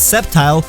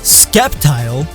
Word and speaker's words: Sceptile: how English works, like when people mispronounce Sceptile as Skeptile, or when they add